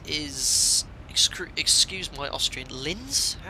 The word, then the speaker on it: Linz: screwed excuse my Austrian Lintz you pronounce that Linz it's Lima Oscar we